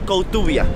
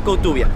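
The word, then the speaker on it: Koutoubia: atrás La mezquita de cotuvia así lo pronunciaríamos digamos en castellano pero no sé cómo se diría en árabe esta mezquita tiene la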